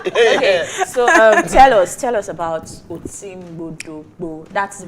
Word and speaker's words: Oti Mgbodo Mgbo: Okay, so tell us about Oti Mgbodo Mgbo. That's the pronunciation.